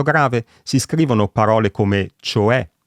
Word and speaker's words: cioè: Mentre con l'accento grave si scrivono parole come cioè, che si pronuncia appunto con la E aperta, oppure caffè, e naturalmente la terza persona singolare del presente del verbo essere.